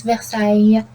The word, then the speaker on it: Versailles: A-I, E-S at the end, but the real pronunciation, it is Versailles, like this.